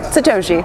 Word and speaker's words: Satoshi: and co-directors on uh satosi if I'm pronouncing it right Satoshi satosi it's not a z it's an S um the embargos lifted